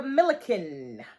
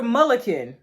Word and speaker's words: Mulliken: Okay, so now we're going to get to Miss Sandra Milliken. Why you be saying people? That ain't even how you say her name. Miss Sandra Mulliken.